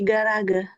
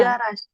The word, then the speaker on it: Garage: di Garage, Nah, ini bacanya bukan garage tapi di garage.